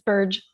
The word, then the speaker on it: Burge: Is it pronounced Burge? It's a soft G. It's Burge.